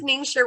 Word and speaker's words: Ningxia: i believe so yes ningxia red so no one knows how to say this and we all love it so this is ningxia red this is literally the